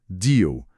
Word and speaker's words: deal: Pronúncia deal. Com a dica do L final com som de U e onde pôr a língua.